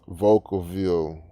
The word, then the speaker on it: Vacaville: a real cali town spanish word vodkaville pronounced vocal view okay oh like a